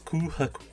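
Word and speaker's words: 空白: Ce symbole représente le vide, le blanc, et se prononce Kuhaku.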